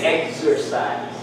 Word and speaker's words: exercise: the vowel sound but they they do not they are not pronounced with g z they they're just x see execute we don't say x and q it doesn't sound nice execution exodus exercise we